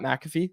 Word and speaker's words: McAfee: Hughes go on Pat mcff um or Pat McAfee that's how you say it um as much